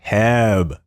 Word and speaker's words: HEB: to the podcast the amazing the talented singer heb hello hello yo yo yo yo yo okay